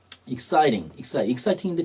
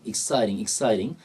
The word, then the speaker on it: exciting: exciting인데 T가 좀 미국에서 알 발음하죠? exciting. 토익은 제가 알기로는 ETS 시험들, 토익 토플은 그렇게 뭐 연음 같은 게 심하진 않은데요. 이 탭스는 연음이 좀 잘 나올 때 많아요. 그래서 exciting 그러지 않고 exciting 이렇게 나올 때 많고 어떨 땐 T 발음이 이제 묵음될 때도 있죠.